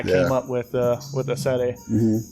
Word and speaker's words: Acere: uh with a seti i just got so tired of educating people on how to say it and they came in here and kept saying to see her i was like you know what so let's go with a seer okay you're driving some